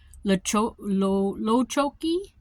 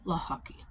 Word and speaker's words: Lochocki: But looking at it, it's just, think of lacrosse and hockey combined, Lochocki.